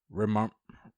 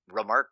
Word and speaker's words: Remarque: Wow, I can't pronounce that name. Eric Marla Remarque?